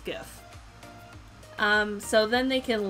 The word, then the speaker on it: GIF: the word gif is pronounced different ways i pronounce it gif but some people say jif but i'm will die on this hill it's pronounced gif um so then they can log in here